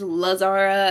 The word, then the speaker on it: Le'Zaura: My name is Lazara. It is not spelled with the A. I mean, there is an A in there, but L E apostrophe capital Z A U R A, which is why I